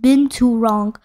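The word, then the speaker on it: binturong: East Asia and Southern and Southeast Asia is pronounced been too wrong the binturang is also known as Barca is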